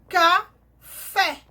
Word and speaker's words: café: Então, café. Qual foi a sílaba tônica? Fé.